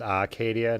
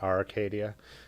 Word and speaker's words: Acadia: the r is silent it's acadia not arcadia gotcha noted i'll forget